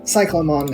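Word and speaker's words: Cyclonemon: but cyclone one is cyclomon as in cyclops not cyclone funnily enough there are japanese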